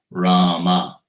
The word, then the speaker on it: Rama: Hanuman wrote on each rock, Rama, 2 syllables.